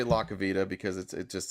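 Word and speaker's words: LaCivita: Chris Lacavita said expect a visit. La Savita. La Savita? Okay. I I thought mean, Harry was saying it wrong, but it is La Savita.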